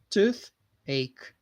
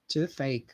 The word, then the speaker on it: toothache: are typing here okay toothache uh pronunciation remember th sound right you have to put the tip of your tongue between the teeth so it's tooth tooth